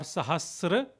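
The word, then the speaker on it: सहस: So even if you say sahas or sahasra, both are same.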